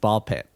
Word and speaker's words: Ball X Pit: This is more of an anime styling, that you don't say the X, you just The say X the is two silent, words. as it often is. Yeah, and like a ball pit kind of thematically fits